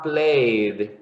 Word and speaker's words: played: You would say played.